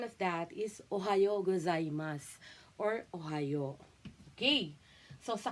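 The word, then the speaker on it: おはようございます: ohayo Ganyan ohas ba So yung right ah pronunciation of that is Ohio gozaimas or Ohio Okay so sa konichiwa naman konichiwa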